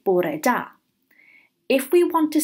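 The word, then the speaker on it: bore da: to say good morning in Welsh we say Borah da if we want to say good afternoon we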